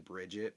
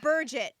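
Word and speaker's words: Birgit: No, it's Burgett actually. Burgett. How the Burgett. how the Listen, audiobook pronounces it yeah, as Burgett.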